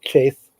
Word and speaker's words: chaff: winnows out the chaff, however you want to pronounce that. I pronounce it chaff normally, but some people pronounce it chaff.